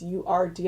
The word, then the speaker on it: Urd: It's U-R-D, I think it's pronounced Urd.